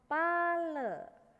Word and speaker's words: pala: Nicky hai hahaha Hai pale nih Paul tulisannya pala Jadi bukan bumbu dapur ya tulisannya pala bacanya pale Coba alat-alat bilang Vale